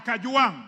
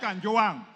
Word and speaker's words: Kajwang: all first of all pronounce my name properly I'm not a CH I am Kang not Kang number two Mr Speaker